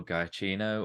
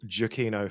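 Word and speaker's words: Giacchino: know got handsome and I'm going to pronounce it Michael guy Chino or oh yeah I think right just because I'm a Michael jukino fan I think it's jokino um yeah um but yeah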